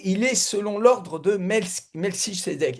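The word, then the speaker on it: Melchisédech: Et lui, il est selon l'ordre de Melisédec. Et Melchisédec, Melkisédec, vous prononcez comme vous voulez.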